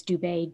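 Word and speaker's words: Dube: my name spelled wrong like you have it spelled like but it's dubai d-u-b-e that'll start a rumor and then just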